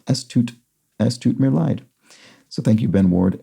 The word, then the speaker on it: Es tut mir leid: German EI is like the English I, and German IE is like the English EE.